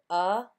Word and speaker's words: above: The syllable says This is another schwa sound. So that means the O here says instead of O or ah. So above.